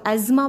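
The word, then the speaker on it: asthma: एस्मा इज़ our next disease and इट is American में इसको एज़मा बोलते हैं, ठीक है, एस्मा आप इसको ब्रिटिश में बोलते हैं, तो आप किसी भी तरह इसको प्रोनाउंस कर सकते हैं।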